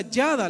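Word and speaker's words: ידע: En el hebreo se pronuncia yada.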